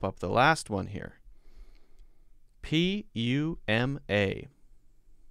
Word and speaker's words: Puma: people pronounce it as puma puma puma yes puma so maybe if you say puma it's okay i've always said i've always called this puma poo instead of pew poo instead of pew